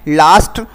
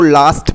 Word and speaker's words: lust: इसका जो उच्चारण है वो लास्ट बोला जाता है, न कि लुस्ट वगैरह या कुछ और बोल लेते हैं आप, वो नहीं होगा, लास्ट ऐसे बोलना है.